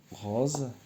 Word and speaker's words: rose: Rose. Quelle couleur? Donc je vais choisir quelle couleur? La couleur noire. On a rose.